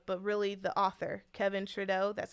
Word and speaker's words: Trudeau: This is one of the books, but not this actual book, but really the author, Kevin Trudeau. That's how you say his name, and that's how you spell it, Kevin Trudeau.